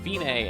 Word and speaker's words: Fine: It looks like fine, but it's pronounced fine, and it means it's the end, the finish.